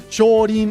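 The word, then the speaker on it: 少林: Maybe he did think, oh, Shaolin or Shorin, as it's pronounced in Japanese, works as a nice little ending, and Rin actually sounds cute.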